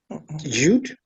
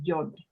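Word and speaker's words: יוד: Tet, Yud, Yeah, it's actually Yod.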